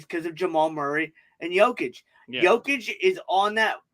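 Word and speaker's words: Jokić: The matchup I'm going to want to see is their big men on Jovic. Is that how you say his name? Jokic.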